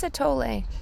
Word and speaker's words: atole: which I think was called elote actually it's atole elote is a grilled Mexican street corn maze drink actually it's pronounced mais not Maze and it also adds